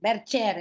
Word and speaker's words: Bercher: bien Isabel, pero Belver Bercher, ¿no? Berchier, Ahí está, sí, Bercher, es el acento en el segundo.